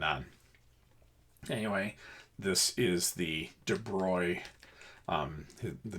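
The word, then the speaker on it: de Broglie: things are moving on anyway this is the de broy um the name is spelled BR d space b o i l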